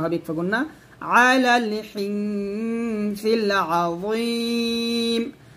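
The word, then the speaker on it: عظيم: ওয়াকানু ইউসিরুনা আলাল হিনসিল, হিন গুণনা হবে, ইকফা গুণনা, আলাল হিনসিল আযীম, আজিম বলবেন না, আজিম বললে এটা জাল উচ্চারণ হয়ে যাবে, এটা য মোটা করে বলতে হবে একসাথে।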